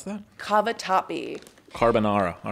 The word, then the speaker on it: cavatappi: How do you pronounce that? Cavatappi.